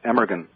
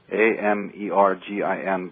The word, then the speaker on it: Amergin: His name was Abergahain, which is actually pronounced Emergin. It looks, if you're reading it, Emergin, Amergin, but in Gaelic it's Abergahain.